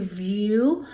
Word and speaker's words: Vue: Then after that, we headed over to View, which is over along the Mississippi River. That's spelled V-U-E.